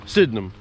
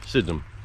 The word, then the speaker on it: Sydenham: of sydenham lake now or as some of the locals say sydenham sydnem i always say sydenham like it's spelled but apparently the locals say sydnem sit in them just run it all together fast and how the lake